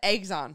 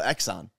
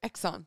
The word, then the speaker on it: Exxon: a moment what Exxon you just said eggs on eggs on like eggs no Exxon okay how do you say it Exxon okay all right who